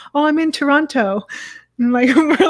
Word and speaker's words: Toronto: a different city, because they'll often fully and completely pronounce the T's in Toronto, and we say obviously Toronto. We don't say Toronto. We just say Toronto.